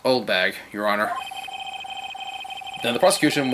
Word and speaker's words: Oldbag: It's pronounced Oldbag, Your Honor.